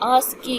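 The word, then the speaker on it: ASCII: बक एंड हमारा जो code होता है व आकी कोड होता है आकी अमरिकन स्टैंडर्ड कोड फर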